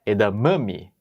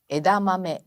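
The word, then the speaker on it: 枝豆: Nissan mas sim Nissan não é edam mami mas edamame perfeito bancha bancha mosi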